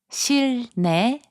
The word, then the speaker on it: 실내: 실내, which means indoors, is pronounced as 실내.